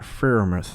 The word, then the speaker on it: Freiermuth: It's Pat Freiermuth.